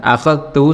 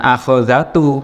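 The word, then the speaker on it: أخذتُ: Kemudian bertemu dengan dhamir atau kata ganti tu, saya, bacanya bukan akhadhatu, saya mengambil, tapi akhadtu, saya mengambil.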